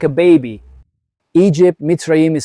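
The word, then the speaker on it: מצרים: Egypt, Mitzrayim is said in Hebrew, which is Mitzrayim, the Lashon is Tsar Tsar, that's how it's said in Hebrew.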